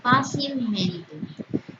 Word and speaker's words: fácilmente: el elemento compositivo mente son palabras que tienen dos sílabas tónicas. Primero, en la que serían en el adjetivo fácil de fa y en las últimas sílabas de mente.